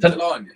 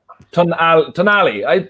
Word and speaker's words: Tonali: Is it Tonali or Talani? What are you saying? Talani? Tonali. It's Italian.